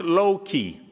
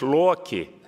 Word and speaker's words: Loki: the avengers movies and it's not low-key it's lockey and it's australia not